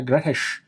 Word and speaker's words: Grettir: To understand Grettir, I'm pretty sure it's pronounced Grettir. Every time I've done a search to figure out how it's pronounced, Grettir, not Grettir, has come up. And I've heard Icelanders call him Grettir Strong as well, so I'm just going to go with Grettir.